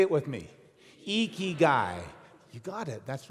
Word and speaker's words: ikigai: pronounce it it's pronounced ikigai you lift your cheeks like you're smiling it's ikigai say it with me iki guy you got it that's